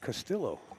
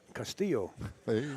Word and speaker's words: Castillo: as I know Gil I've been calling it castilo alright Castillo oh that's like deeper Spanish pronunciation how you pronounce it right Castillo I